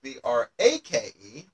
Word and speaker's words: brake: stop by applying the brake. So that part of the car that you step on to slow it down or stop, that is also called a brake, pronounced exactly the same way as B-R-E-A-K.